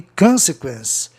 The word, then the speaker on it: consequence: Sequência, sequence, é uma palavra paroxítona, e consequence, proparoxítona. Daí a sílaba tônica fica no O, antes de duas consoantes do sistema comum, onde o O tem um som de O nasalado, consequence.